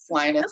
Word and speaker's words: Linus: And your brother's name is it pronounced Linus? Linus.